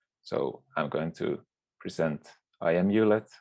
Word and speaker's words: IMULet: i'm going to present imulet or pronounced amulet which is a cloudlet